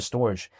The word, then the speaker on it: Storj: It's spelled STORJ, but some people call it storage.